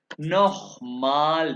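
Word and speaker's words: noch mal: ये CH जहां भी आएगा इसे कहते हैं खे की आवाज से। नोह माल बिटे, ये खे।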